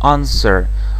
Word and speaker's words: answer: Да именно такое произношение Answer W не произносится Хотя пишется Да если так вот